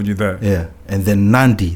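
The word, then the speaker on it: Nadi: that yeah and then nandi there's an n before the d 90 instead of nandi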